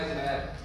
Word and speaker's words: Umair: आपको इनको जोड़ना सिखाया जैसे मेरा नाम है उमैर वैसे तो ये इसकी स्पेलिंग है यू एम ए आई आर अब